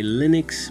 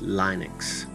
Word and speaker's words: Linux: Linux and windows some of you may say Linux but it's actually pronounced Linux now the computer we're using happens to be